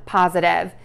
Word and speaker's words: positive: So to say this word correctly, start by saying pause. And to do that, what you're going to do is have your lips together for the P and then open very wide into an oval mouth shape with the tongue in the bottom of your mouth for that ah sound, pause. End with the Z sound for that syllable.